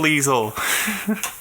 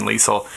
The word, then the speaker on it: Leisel: Tell me a little bit about that then, Leisel. I know, so what I know so far is that your family pronounces your name with a soft S, and that you play bagpipes.